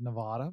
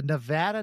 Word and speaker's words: Nevada: for nnsa out at the Nevada Nevada I mispronounced it and said Nevada but it's the Nevada National Security Site for three decades and he